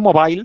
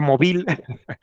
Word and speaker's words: Mobile: el acceso a la bahía de Mobile, no Mobile, se pronuncia Mobile, se pronuncia Mobile, lo conquistaron en agosto de 1864, iban cada vez cerrando los diferentes puertos.